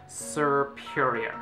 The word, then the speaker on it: Serperior: and this is such a hard name to pronounce a superior serperior mr.